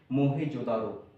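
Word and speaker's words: Mohenjo-daro: पहले तो लोग इसका सही प्रोनाउंसिएशन ही नहीं कर पाते। इसका नाम होता है, सही प्रोनाउंसिएशन क्या है, मोहेंजोदारो।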